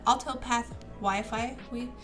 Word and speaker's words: AaltopahWiFi: AaltopahWiFi. No, How do you say it's it? AaltopahWi. AaltopahWi. Like you that? You don't say the phi in the end. It's AaltopahWi.